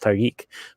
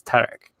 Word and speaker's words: Tarek: That's and it's like an actual significant difference because in French the name is usually pronounced Tariq, but in Arabic it's Tarek.